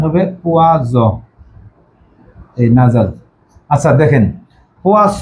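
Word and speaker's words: poison: এটা উচ্চারণ হবে পোয়াস নাজাল, এটা উচ্চারণ হবে পোয়াজ, এই নাজাল।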